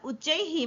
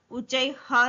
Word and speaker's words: उच्चैः: यहाँ पर उच्चैः में विसर्ग का जो उच्चारण होता है वो ही होता है, उच्चै ह नहीं होता, उच्चै ही होता है।